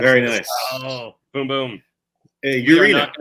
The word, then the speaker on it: Urena: Urena. Is that pronunciation correct? Urena is correct. That is right.